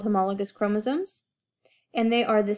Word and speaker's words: homologous: look kind of weird to you guys it's pronounced homologous chromosomes homo meaning same logos or lagus from